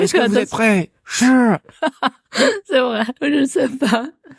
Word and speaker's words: 是: Donc déjà shi, la prononciation d'après toi, c'est quel ton? Shi. Ah, alors là c'est clair, net, précis, donc c'est le 4e ton.